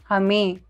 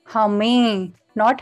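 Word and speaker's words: हमें: The shortened form is hame. Hame. Note that there's N at the end, which is a partial pronunciation, denoted by this dot over here. Hame, not hamen.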